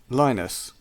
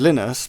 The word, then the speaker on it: Linus: But his name is spelled how some people would pronounce it, Lionus. Yes. Yes, but he's he's called Linus because he's from Finland and Okay.